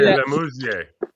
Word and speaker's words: LeMessurier: Do it off that computer, Chris, I would say Lemousier. Yeah, I mean, it depends where we're at, right? If we're in Quebec, it would be Le Mesurier.